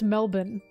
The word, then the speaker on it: Melbourne: Oh yeah, no, I always hear Americans pronounce Melbourne because I'm friends with a bunch of them. Melbourne. Melbourne. Melbourne. It's Melbourne.